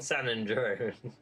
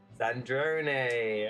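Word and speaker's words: Sandrone: I kept saying son and drone. I I I didn't know how to pronounce her name, so I just kept saying San Andron. I said it properly for once. I said it properly. Sandron.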